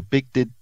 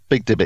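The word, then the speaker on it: BigD18t: I don't know how it's pronounced. B-I-G, capital D, 1-8-T. So Big Dibbit. That's him. Big Dibbit.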